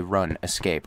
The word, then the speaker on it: RuneScape: You remember one time as a kid, your friend's mom actually did pronounce it run escape.